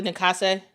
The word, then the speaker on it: Nakase: So, but again, I don't know how to pronounce it. How do you say her name, coach for Golden State? Nakasa? Natalie Nakase.